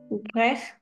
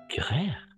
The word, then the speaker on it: grêle: Il Grêle. grère. Hmm. La E no se pronuncia al final.